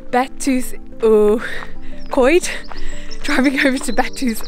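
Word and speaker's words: Betws-y-Coed: over to, I'm trying to remember how you pronounce it, it's Betws Y Coed.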